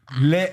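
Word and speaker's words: laid: Lait, L-A-I-D. On prononce pas le D, Zoé, c'est L-A-I.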